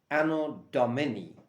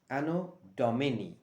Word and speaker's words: anno domini: friend is a latin word which stands for anno domini ano domini don't mix it up with dominic's pizzazz anodomony